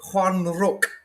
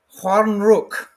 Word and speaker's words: Stjärnrök: So it's almost like the S and the T is silent, and we're going to go for like Juan of almost Spanish J.